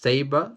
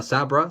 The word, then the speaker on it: Sabra: Hulk 256 first appearance of I think it's pronounced saber a Sabra sorry s-a-b-r-a um who's like an Israeli mutant